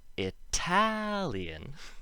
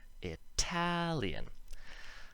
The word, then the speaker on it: Italian: syllable after uh isn't in the word italian it's the other way around so it's the previous syllable that's not emphasized and then the al is emphasized italian so that's why we make the t sound not the tap sound if we look at